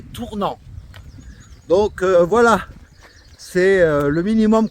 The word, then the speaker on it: Tournan: va nous amener à Tournan et faut pas tourner mais ça s'écrit tourne m sur la M mais Fred hier soir nous a dit que on disait tournant donc voilà c'est le